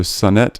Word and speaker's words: Sonnet: name right et in et Sun net so Sun net do you pronounce it yes Sonic sonnet son at